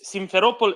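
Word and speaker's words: Simferopol: to the northeast right of sevastopol correct yes simpheropol is on the train line between sevastopol and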